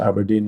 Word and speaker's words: abrdn: and you think well at least ABRD and you can say you pronounce it Aberdeene and therefore you know